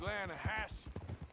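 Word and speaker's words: Lannahechee: no no no no the the lana hatchy it runs right near here yeah but it's pronounced land hass why is everything in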